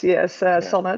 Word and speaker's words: Sanne: Stana, hope the pronunciation is correct. Good enough. Yes, Sanne, Okay.